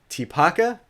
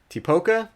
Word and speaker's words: Tipoca: and we are building I believe it's pronounced tipaka tipoca something like that City and we are